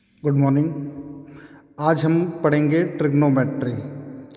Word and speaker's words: Trigonometry: ट्रिग्नोमेट्री। जो यहाँ पर ओ रहता है ये क्या रहता है? साइलेंट रहता है।